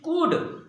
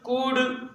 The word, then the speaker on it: could: Then again pronounce the next one, इट इज कुड कुड कुड। So again it is similar, would stood could would stood could.